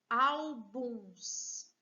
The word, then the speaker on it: álbuns: Depois nós temos a palavra álbuns. Vejam, aqui também está acentuada. Álbuns. Penúltima sílaba é a sílaba tônica, portanto, paroxítona.